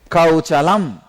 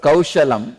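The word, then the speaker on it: कौशलम्: He's from Kerala, so the pronunciation he made kauchalam. Instead of kaushalam, he said kauchalam. He insisted that kaushalam into kauchalam.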